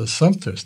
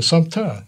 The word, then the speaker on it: Assumpta: And I kept telling him he's pronouncing it wrong. It's a Assumpta now. And he said, no, it's a Assumpta.